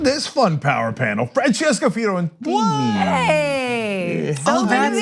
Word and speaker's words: Fiorentini: Francesca Fiorentini. Hey! Oh, that's how it's pronounced.